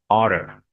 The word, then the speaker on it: ought to: But this one, when we pronounce for speaking, we just say oughter, oughter.